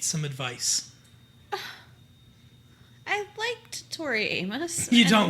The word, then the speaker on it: Amos: Maybe it was the fairies that changed the pronunciation of her last name. It's Amos. Tori Aimless.